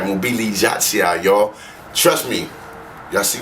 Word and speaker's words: Mobilizacja: Mobilizacja, y'all.